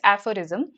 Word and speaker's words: aphorism: Aphorism, that's how we pronounce this, aphorism.